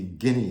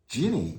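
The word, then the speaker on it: Gini: 000 days now before i had mentioned the guinea index and i'm sure that almost nobody understands or even heard of the guinea index it's spelled g-i-n-i now the ginny index measures income distribution across the entire population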